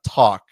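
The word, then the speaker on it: TAC: I think it's pronounced uh talk T A C for those listening who can't uh can't see the screen.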